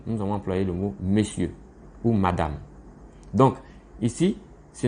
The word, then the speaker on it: monsieur: Bien que dans l'étymologie du mot monsieur, monsieur s'écrit M-O-N-S-I-E-U-R. Du genre, et on dit monsieur. C'est comme ça que ça se lit. Ça se lit monsieur.